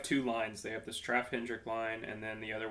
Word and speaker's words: Straffe Hendrik: Straffe Hendrik. Straffe Hendrik.